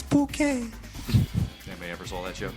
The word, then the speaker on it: Bucket: Kind of like the Bucket Woman, it's bouquet.